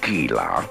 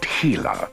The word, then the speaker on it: Gila: it's the Gila Hooligans it's a soft G not Gila but heila from the Spanish now let's all say